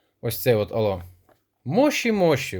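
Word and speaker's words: もしもし: Алло, мощі мощі вимовляється правильно японською мовою.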